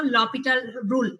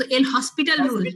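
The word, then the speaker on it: L'Hôpital: যদিও তোমরা এটা করে আসছো লপিটাল রুল, আমরা যদিও কি বলে অভ্যস্ত এল হসপিটাল রুল, তাই না?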